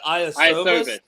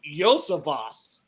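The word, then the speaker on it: Iosivas: I would pronounce it by looking at it Iosovas, Iosovas. but it's Yosavas.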